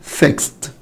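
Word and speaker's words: fixed: هتقول له يا مستر اخر صوت فيها سه فيكس، فبالتالي لما اجي احط الاي دي وانطقها تبقى فيكست فيكست فيكست. يبقى لاحظ الاي ما نطقتش والدي نطقت تي.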